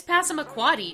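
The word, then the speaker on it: Passamaquoddy: with human languages and I can do this one it's pasm aquati not you know the town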